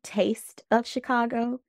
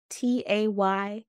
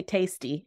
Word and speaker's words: Taste of Chicago: It's supposed to be Taste of Chicago, TAYSTE _ of Chicago. Taylor Taste. I get it. I like that. Cool. Thank you. People say tasty, and I'm like, no.